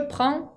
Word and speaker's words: prend: Entonces no se le pone terminación directamente y esa D no se pronuncia al igual que la primera y segunda persona. Je prends, tu prends, il prend, sin terminación, ¿ok?